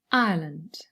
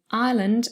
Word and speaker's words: Ireland: one syllable and then ireland of course has two syllables i and then lend but within the first syllable you have the um the triphthong i plus the schwa together now there's something important